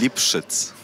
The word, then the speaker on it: Lipszyc: Can you pronounce Lipszyc. It? Lipszyc. My name is Lipszyc.